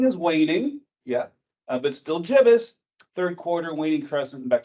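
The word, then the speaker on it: gibbous: later jbus I looked it up is actually pronounced jbus not gibbus uh it means kind of fat so this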